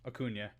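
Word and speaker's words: Acuña: I'm gonna say his name wrong. Is it Acuna or Acuna? Acuna.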